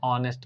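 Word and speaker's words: honest: हम लिखते हैं एंड ऑनेस्ट मैन एंड ऑनेस्ट मैन लगेगा क्यों लगेगा क्योंकि ह कंसोनेंट है लेटर कंसोनेंट है पर इसका उच्चारण क्या है ओ जो की भावेल है उम्मीद है इतनी बात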